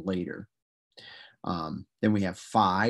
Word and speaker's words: phi: um then we have phi or phi and that's a ph sound like in phone you can see if